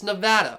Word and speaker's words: Nevada: I don't remember how I said it just barely, but it's Nevada, okay?